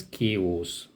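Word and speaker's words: chaos: ओ एस के ओस इट is pronounced S केस केस का मतलब होता है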